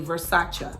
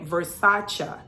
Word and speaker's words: Versace: Did y'all know that it's not pronounced Versace? It's actually Versace. I heard Donatella saying that. She said Versace is the most mispronounced Italian word in the English language.